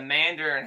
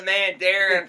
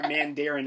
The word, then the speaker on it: Mandarin: i wrote until 2013 brad didn't know how to pronounce it either yeah exactly i was calling the man darren for about eight years so uh jared corrected